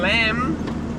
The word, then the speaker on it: lamb: And lamb, what's the B there for?